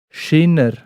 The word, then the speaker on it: Schäner: Das heisst Schinner. Schinner. Schinner. Also mit E, Schäner. Ja, und es steht Also- eben da, das E wird fast ein bisschen wie ein I ausgesprochen. Ja.